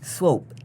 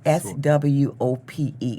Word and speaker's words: Swope: Swope, S-W-O-P-E. It rhymes with right. hope and That's right. cope. Long O, silent E for the audience.